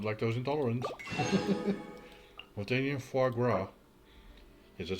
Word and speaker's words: foie gras: Montanian foie gras. Yes, that's how you pronounce it.